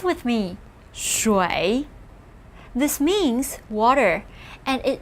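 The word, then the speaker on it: 水: shan this means mountain as we saw before pronounce with me shui this means water and it used to be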